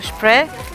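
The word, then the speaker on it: Spree: here on the liver on the river spray but i think that's the pronunciation in in german uh the one hour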